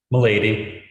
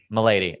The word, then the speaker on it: Malady: name how do you how do you say it m'lady milady excellent malady please take